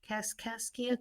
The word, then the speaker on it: Cascia: Casasia Cascia College.